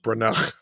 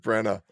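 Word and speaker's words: Branagh: I like how you called him Kenneth BR isn't that how it's pronounced no it's kenth Brena I like br better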